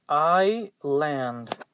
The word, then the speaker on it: island: that we do not pronounce the letter s and the result is i land so pay attention to that we have three more